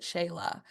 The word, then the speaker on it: Sheila: It I was is just talking with a woman last week about she spells her name Sheila, Sheila, but she pronounces it Shayla.